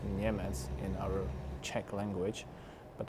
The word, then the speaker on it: Niemec: It's been pronounced Niemec in our Czech language, but I don't want to force you to try to pronounce it.